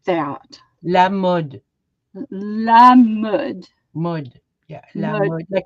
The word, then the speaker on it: Mode: La mud. Mud. Yeah, la Mud. mode. Like No, mud. M-U-D. yeah, it sounds like mud.